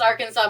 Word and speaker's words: Arkansas: Yes, it is pronounced Arkansas.